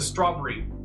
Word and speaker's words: strawberry: I know one area I learned how to say that word strawberry today with a British accent they they only use two syllables instead of three it's a strawberry very good I agree